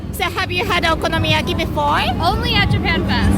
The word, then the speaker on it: okonomiyaki: Yaki I think I don't know how to pronounce it right yeah that's perfect yeah okonomiyaki so you get it from this Osaka yeah